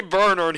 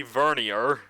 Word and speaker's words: vernier: important honestly but yeah they say Bernard here but it's judging by the pronunciation it's obviously supposed to be vernier I mean it doesn't